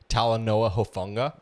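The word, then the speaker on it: Talanoa Hufanga: adding Jade Baron, um, Dre Green Law, um, Talan Hoffa. How do you say it? Talenoa Hofunga, that guy.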